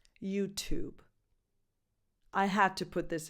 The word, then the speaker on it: YouTube: I guess, is that you try to pronounce that syllable, that T plus vowel combo, as the number 2, YouTube. Think of the name of this very famous band and add a very light B sound at the end, YouTube.